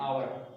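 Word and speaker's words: hour: ठीक है, क्योंकि एच क्या है, साइलेंट है, उसका उच्चारण नहीं किया जा रहा है।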